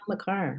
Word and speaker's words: Makar: I saw, did anybody see Cale Makar? Is that how you Oh. say his name? Oh yeah, Cale Makar, right.